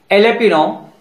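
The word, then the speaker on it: jalapeño: Silent letter जे, दो word ही ऐसे हैं जिसमें जे साइलेंट है, मेरियोना मीन्स भांग या गांजा, एलेपिनो मीन्स ये मेक्सिको की हरी मिर्च है।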